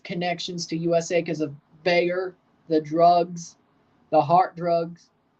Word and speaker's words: Bayer: for buyer as well the way the Americans say it the company so of course pretty obvious to open the stadium against buyer Liverpool buyer liver buyer Leverkusen when I'm talking about the company I say Bayer when I'm talking about